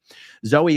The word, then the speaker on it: Zoey: the name it says Zoey Perez pronounced Zoe is a transgender who